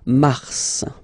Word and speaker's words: mars: Okay, so in a way it's an exception because normally final S is not pronounced in French. Okay, we've got some exceptions and this one is one of them. So mars, pronounce the final S, mars, mars.